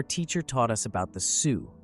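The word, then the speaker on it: Sioux: flushed and said well maybe it is pronounced Sue but I know there is a Sai Ox Indian good grief I learned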